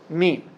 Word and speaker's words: meme: And he coins the term meme. He wanted it, as he said, to rhyme with gene, because it does the same work as genes, just in the social sphere.